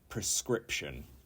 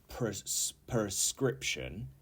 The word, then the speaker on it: prescription: onions number 19 is prescription and not P prescription but prescription not prescription prescription and this is